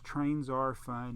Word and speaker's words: TrainTsarFun: It's TrainTsarFun, and if you say it, sounds like trains are fun, so that's why I do it.